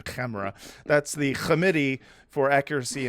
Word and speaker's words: CAMERA: Camera, you say it correctly. You got to put the KH in Camera.